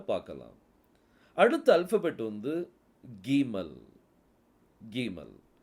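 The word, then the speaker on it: גימל: அடுத்த அல்பாபெட் வந்து வந்து கீமல் கீமல் கீமலுக்குள்ள புள்ளி வந்தால் அதனுடைய உச்சரிப்பு வந்து ஸ்ட்ராங்கா உச்சரிக்கணும் க அப்படிங்கிற உச்சரிப்பு வரணும் புள்ளி வைக்கல அப்படின்னா அது க அந்த ஹ அப்படிங்கிற உச்சரிப்பு க கூட சேர்த்து வரணும் க புள்ளி வைத்தால் அது வந்து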